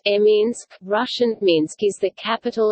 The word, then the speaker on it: Minsk: Minsk, Belarusian, Minsk pronounced Minsk, Russian Minsk is the capital and largest city of Belarus, situated on the Svislak and the Nyamiha rivers.